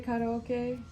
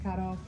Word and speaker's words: karaoke: I always want to say karaoke because I know that's how it's actually pronounced. I lived in Japan for 5 years. That's how we refer to it. But I also know how obnoxious it is when people in North America say karaoke or karate.